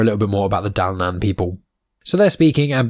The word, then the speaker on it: Dalnan: Now, it's hard to pronounce, D-A-L-N-A-N, Dalnan.